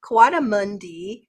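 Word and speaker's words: coatimundi: So, they have um they're part of the raccoon species and they're called Kawada Kadi Kawadamundi, I believe, is how you say it, but I guess it's Kawatti for short.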